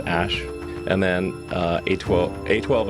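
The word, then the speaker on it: Æ: x the letter X the AE is like pronounced Ash and then uh a12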